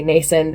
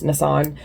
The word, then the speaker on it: Nassan: Um, a lot of people say Nason, it's Nissan. And then Turac is my fault.